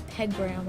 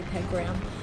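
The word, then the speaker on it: Pegram: to this riverbed and I just noticed I've been saying our cannon unit's name wrong his name is peg gram I'm very sorry peg brown but peg gram is delivering right now so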